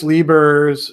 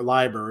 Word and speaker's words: Leiber: I do this Worlds of Speculative Fiction series, and last month it was Fritz Lieber's, or Leiber is how it's supposed to be pronounced, but I'm going to say Lieber anyway.